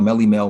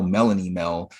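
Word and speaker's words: Melle Mel: He called Melly Mel Melanie Mel. He pronounced Quincy D3 as Quincy D the third, and Quincy D is obviously Quincy Jones' son.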